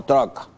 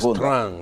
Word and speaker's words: Trump: Trump, no truck. Trump. Es Trump, la pronunciación correcta.